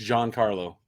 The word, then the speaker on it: Giancarlo: Yeah, I asked his rep, and it's Giancarlo. Okay, making sure. Is it Gian? No, it's Giancarlo.